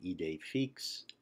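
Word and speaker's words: idée fixe: The acute accent is the accent that rises left to right, as in the expression ide fix, and it makes the letter E pronounced like the English long A.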